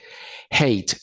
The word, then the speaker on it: hate: es decir agregando ing hate la h en inglés no es muda como el español decir hotel sino que se pronuncia como una jota hay